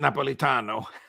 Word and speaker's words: Napolitano: from Italy he was in Milano where everybody pronounces it Napolitano and a CHP Napolitano